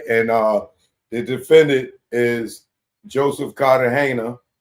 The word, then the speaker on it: Cartagena: And the defendant is Joseph Cartagena or Cartagena, as some of y'all may pronounce it. I know it is Cartagena from going to Colombia, for y'all that never crossed over the water into Colombia.